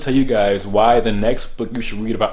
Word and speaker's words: NECST: So he goes into why you need to get into this acronym that he has called NECST, pronounced next, which is basically acronym